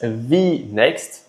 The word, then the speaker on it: Vinext: Pronunce V next. Bon ça va, on a la bonne prononciation en français qui est un dropin remplacement.